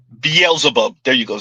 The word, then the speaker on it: Beelzebub: And the men are Beelzebub. Beelzebub. There you go, Z. You pronounced it the right way the second time.